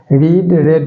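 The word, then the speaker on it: read: एच ई एम क्योंकि रीड का तीनों फॉर्म जो है स्पेलिंग सेम रहता है रीड आर ई एडी ही रहेगा लेकिन प्रोनंसिएशन उसका जो है चेंज कर जाता है रीड रेड रेड यानी स्पेलिंग वही रहेगा लेकिन प्रोनंसिएशन उसका चेंज हो जाता है नल आर बीइंग रेड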